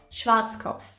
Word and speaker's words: Schwarzkopf: explain it to you when an S C and H stand together they create a new sound sh sh and we already